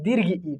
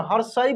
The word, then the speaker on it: दीर्घ: ठीक है, और हम लोग अपने देहाती भाषा में लोकल लैंग्वेज में हर्षई बोलते हैं, इसको दीर्घई बोलते हैं। ठीक ना, लेकिन एक्चुअल करेक्ट जो प्रोनाउंसिएशन होता है हर्ष ई और दीर्घ ई।